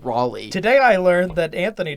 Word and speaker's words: Raleigh: Car cleaning guru watching from Raleigh, North Raleigh. Carolina. That's Raleigh. Is that how you say that, Raleigh? Yeah. Who is the one that said that was going to be called Raleigh?